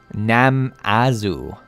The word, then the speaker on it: Namazu: hope i'm pronouncing your name correctly uh says pronounce nam azu nam mazu namazu namazu either way don't don't